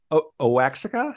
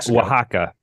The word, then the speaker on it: Oaxaca: you I've done the magic mushrooms in Osaka ohexica how do you say that uh Oaxaca Oaxaca oh God I can't edit that um